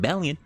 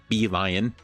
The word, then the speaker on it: Bellion: I think I did notice it being the words be and lion, but I was not expecting that to be the actual pronunciation. All right. Be lion. be a lion.